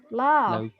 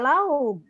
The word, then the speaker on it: love: Kalau ini love. Enggak lauk. Itu dibacanya love. Love. F. Bukan lauk.